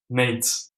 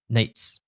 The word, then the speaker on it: Nejc: They basically said it's pronounced Nate. Yeah. Hey, that's pretty close. Really? Yeah. So if you just say like a t's at the end, t's, Nejc. Yeah, exactly. Nejc.